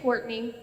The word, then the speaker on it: Courtney: It's Courtney, like the name. I just Thank you. don't have good handwriting. For the record, I'm Courtney.